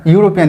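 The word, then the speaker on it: European: দেখেন তো উচ্চারণটা কি ই এর মতো হয়েছে কিনা? উচ্চারণটা কিন্তু ইউনিভার্সিটি, উচ্চারণটা কিন্তু ইউরোপিয়ান হয়েছে। তার মানে এখানে ই এর মতো উচ্চারণ হয়েছে না, এখানে ইউ এর মতো উচ্চারণ হচ্ছে।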